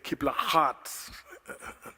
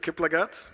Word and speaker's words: Kiplagat: in South Africa, and the pronunciation of my name has a G, and they normally say Kiplagat. And I'm at pains to try and explain to them that our G is a little quieter. So it's Kiplagat from Kenya, and I'm